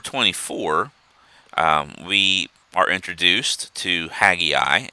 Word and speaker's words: Haggai: we are introduced to haggai h-a-g-g-a-i or haggai probably is more like how you pronounce it and zechariah who are